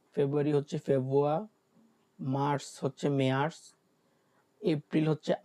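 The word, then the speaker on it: März: March হচ্ছে Meyers.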